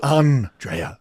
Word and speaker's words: Andrea: You know, like, oh, you actually have to put the accent on the N. It's Andrea.